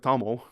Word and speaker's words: Tamil: You say Tamar. Oh yeah, that's the symbol. You say Tamar instead of Tamil, but Chola instead of Chola.